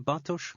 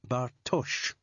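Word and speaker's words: Bartoš: you think that because everyone here pronounces the name wrong with an s sound at the end it is pronounced bartosh the name is czech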